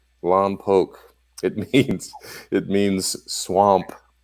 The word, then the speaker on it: Lompoc: it you don't know how long poke is pronounced Lompoc it means it means swamp I'm made of